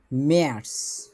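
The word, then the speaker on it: März: তারপর ম্যার্স, উমলাউট আছে, এটা দেখতে পেয়েছি আমরা, এটা খেয়াল রাখতে হবে।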